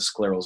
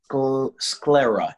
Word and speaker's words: sclera: other things so that's i'm really happy with sclerals and low vision those are the two areas i love the most yeah i'm really interested in you said it's pronounced squirt scroller how do you pronounce that sclera s-c-l-e-r-a sclera sclera awesome you have to look